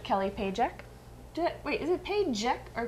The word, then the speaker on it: Pajek: Wait, is it Pajek or Paycheck? Pajek.